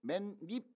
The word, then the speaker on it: 맨입: 미음은 맨입 아니고 발음이 맨립 이렇게 되죠. 립.